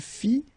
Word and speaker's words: fit: Il fit, elle fit, final T not pronounced.